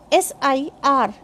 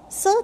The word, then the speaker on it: sir: If someone's name starts with consonant sound, then R is silent.